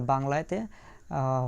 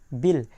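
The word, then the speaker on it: был: তাহলে ইংরেজিতে যে আই আছে আই ধরে, তাহলে বি আই এল, লাস্টের যে অক্ষর দেখছেন এটা হচ্ছে এটার উচ্চারণ হচ্ছে ইংরেজিতে এল। এটার উচ্চারণ রাশিয়ান ভাষায় এটার উচ্চারণ হবে এল এর মতো। রাশিয়ান ভাষায় এটার উচ্চারণ কি? এল এর মতো হবে। তাহলে বি আই এল বিল, তাহলে বি আই এল বিল,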